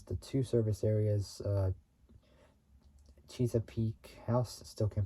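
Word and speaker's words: Chesapeake: P I can't really say it well but it's spelled c h e s a p e a k house and Maryland house along Interstate 95 in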